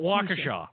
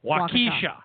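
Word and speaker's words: Waukesha: yeah we always got they yelled at us like no it'sa not Walkera wakisha wakisha oh that I've never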